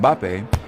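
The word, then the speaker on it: Mbappé: the same reason that when English commentators talk about the French footballer Killian mbappe they often find themselves inserting a third syllable to make it more pronounceable mbapp it's because in English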